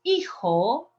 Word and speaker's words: hijo: Yo soy hijo de Donald. Remember the pronunciation? Don't pronounce the H.